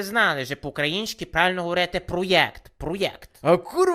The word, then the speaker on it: проєкт: характерами тому ти покидаєш проект назавжди Ну що ти думаєш на рахунок того всього проєкту Які твої враження Чесно кажучи я думаю чого ти постійно кажеш проєкт А не проект то якась правильна вимова чого то він ще